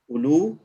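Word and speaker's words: أولو: What did I say about the waw? It's not pronounced. It's not pronounced. So it is written, but we are saying ulu.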